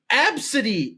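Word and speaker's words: Abcde: to be oh here's the baby name it's absidy a b c d e nope yeah I I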